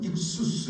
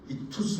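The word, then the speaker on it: ἰχθύς: 생각합니다 발음이 이게 이게 저 그리스 알파벳 중에 세타라고 하는 부분인데 타자라고 하는 것은 영어의 히 발음과 같아서 한국말 말하면과 쌍시 사이의 중간 발음인데 그래서 뭐 익수스 이렇게 발음고 하는데 그 발이니까 헬라를 모르니까 그냥 익투스 하시 익수스 하시 하시면 됩니다 물고기라는 뜻이죠 초대교회에서이 물고기라는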